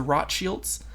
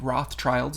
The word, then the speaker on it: Rothschild: Well, Carlton Weiss was actually a private investigator for multiple elite families, the Rothschilds. That's actually how they're pronounced in their German name. Rothschilds is how we say them in America.